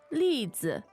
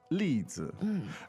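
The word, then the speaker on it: 例子: 例子，例子。例子. And the tones there are Fourth and neutral.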